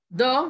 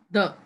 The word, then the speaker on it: the: Normally, we pronounce the with a short sound. We say the. But when it comes before a vowel sound, we pronounce it as long.